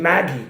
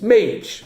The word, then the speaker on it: Mage: even pronounce him right he was saying Maggie it's Mage like Paige Mage uh anyway uh nice